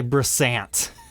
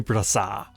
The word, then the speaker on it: Brassart: the owner is Guy Brassart. Now, his name is French, so you don't pronounce it the way it looks. Otherwise, it'd be Guy Brassant. Not quite as cool as Guy Brassart.